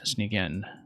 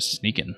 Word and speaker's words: Sneakin: Well, thank you as always, Sneak In. Or actually, I've been to your stream enough now that I know you actually pronounce it Sneakin', right? Like Sneakin', as if there were an I there.